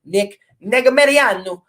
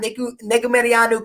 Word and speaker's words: Negumereanu: got Villanueva, with all due respect, taking on Negumereanu. And I've heard so many people butcher that name, so I wanted to try and get it at least closer to the real pronunciation. But Yeah, we got Negumereanu cashed me a big underdog ticket last time